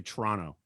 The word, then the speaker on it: Toronto: If I was in Canada, I'd say Toronto. As a local, you don't pronounce that second T.